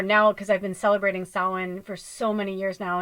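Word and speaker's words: Samhain: you know for now because I've been celebrating sin for so many years now and of course it's Halloween and Day of the Dead and all that but sin you know it's the end of the Harvest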